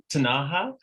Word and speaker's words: Ktunaxa: The first one's Ktunaxa. Okay. The K is almost silent.